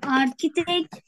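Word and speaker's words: architect: Şimdi arkitekt, mimar, arkitekt diye okunuyor İngilizcesi. Evet.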